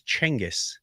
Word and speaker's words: Genghis: But um they're saying that the Mongolian way to pronounce it was Changis and somewhere in the Persian translation years later it became Genghis.